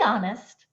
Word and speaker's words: honest: preposition to and then I have a silent H I'm gonna blend and say this in one continuous breath to be honest to be honest okay